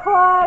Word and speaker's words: Claude: That's how you spell it. Oh, Claude as in Claude. Not Claude as in C-L-A-W-E-D.